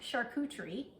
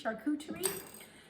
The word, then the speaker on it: charcuterie: It's pronounced charcuterie, and it's almost like char, C-H-A-R, cou, C-U, maybe Teree, T-R-E-E, charcuterie.